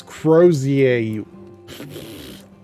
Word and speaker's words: crozier: Oh, it's Crozier. Crozier. I always say Cozier. Just forgot the R.